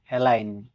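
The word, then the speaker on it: align: জি letter ডিলেন থাকবে এল আইজি এন এলাইন সারিবদ্ধ করা এখানেও জি এর পরে এন আছে তাই জি লেটার ডিসাইলেন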